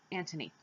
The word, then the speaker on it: Antony: It's not Anthony and Cleopatra. It's Antony, yes.